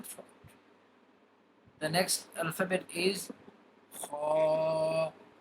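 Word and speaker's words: خ: The next alphabet is Kha. Kha. Kha will be pronounced by the upper end of your throat.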